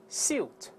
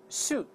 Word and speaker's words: suit: ，所以分别读一下 suit suit，两个发音都对都可以。